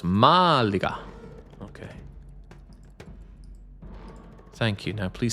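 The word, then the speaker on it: Málaga: in Granada not Malaga Malaga I think that's how you say it they did not like the fact that I stressed the second a they said no it's Malaga okay thank you now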